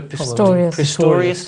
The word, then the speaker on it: Pistorius: of things when oscar pistorius does that have pronounced his name oscar pistorius thank you very much when this trial becomes